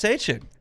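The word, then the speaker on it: Etienne: We got to go Travis Hane.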